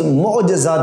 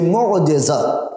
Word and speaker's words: معجزہ: لازمہ اور ضروری چیز معجزہ بھی ہے۔ اس کا تلفظ بھی اکثر غلط کیا جاتا ہے، معجزہ، یہ معجزہ، جیم کے نیچے زیر ہے، معجزہ، جس کا معنی